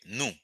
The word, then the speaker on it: nou: it is the same the difference between the two is that is is the accent the accent the uh the tonality when you're going to say that okay the tone is gonna help you okay napali it's the